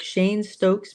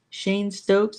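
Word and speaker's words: Cheyne-Stokes: had what is called Shane Stokes breathing. Shane Stokes. It's not spelled that way. It's spelled more like looks like it should be pronounced Cheyenne, but it's Shane Shane Stokes breathing.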